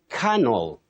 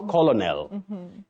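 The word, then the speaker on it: colonel: we have at ridiculous you say canal canal not colonal litigant not litigant litigant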